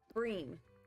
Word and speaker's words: bream: His name rhymes with dream. Bream.